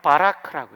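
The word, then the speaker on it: ברך: 히브리 말로는 바라크라고 해요. 히브리어는 오른쪽에서 왼쪽으로 나갑니다. 헬라어는 한글처럼 왼쪽에서 오른쪽으로 나가고요. 오른쪽에서 왼쪽으로 나오는데 첫 번째가 바라크가 베트, B 발음이에요. 그 다음 레쉬, R 발음이에요. 그 다음에 카프, K 또는 CK 이렇게 발음돼요.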